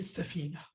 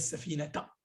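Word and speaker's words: سفينة: Mais si c'est dans le domaine du cours, si tu t'arrêtes sur ce mot, tu ne prononces pas le ta à la fin. Tu dis par exemple rakibtu hadhihi safina. Tu dis pas rakibtu hadhihi safinata.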